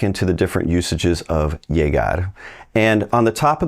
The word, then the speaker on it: llegar: across folks who are pronouncing it more like a soft J jar jar they're both correct it really depends where you're at regionally now if you work your way down through South America and you end up down in Argentina Uruguay that dou L may sound like a sh she she whichever one you want to use just be you now